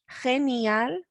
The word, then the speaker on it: genial: We've got the noisy ge sound because we've got the G following an E, genial.